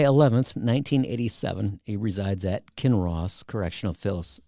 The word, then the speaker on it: Kinross: He resides at Kinross Correctional It's King Cross.